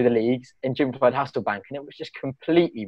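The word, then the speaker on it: Hasselbaink: I don't think you pronounced it properly. It's Hasselbank.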